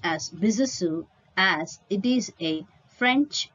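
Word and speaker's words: Besançon: in bisusu of france the word b-e-s-a-n-c-o-n is pronounced as bizasu as it is a french word he was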